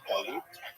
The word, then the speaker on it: galut: a neutral connotation, but the word exile in Hebrew, galut, or in a Ashkenazi pronunciation, galus, that Jews were thrown out of their land.